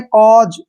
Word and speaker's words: cause: अब जैसे CAUSE, इसमें फिर से AU आ गया, इसको पढ़ेंगे कॉज, ठीक है ना, कॉज।